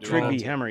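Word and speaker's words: Trygve Hammer: Trigby Hammer.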